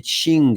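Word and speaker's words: Qing: donc de la dynastie des Ching les Ching ça s'écrit Q i n g donc après la bataille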